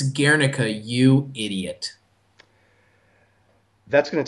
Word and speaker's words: Guernica: I've seen it, and it's beautiful, and I pronounced it Guernica, when in fact it's La Oh, you Guernica, not hasty.